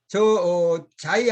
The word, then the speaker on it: Xi: 그다음에 이제 조어로서는 뭐 자이, 더샵 이렇게 있는데, 자이 아파트라는 걸 써놓고 저렇게 뭐 XI를 써놨는데, 저거를 누가 자이라고 읽겠느냐. 그런데 저렇게 쓰고 자이라고 읽도록 많은 홍보 비용이 들어갔다는 거죠.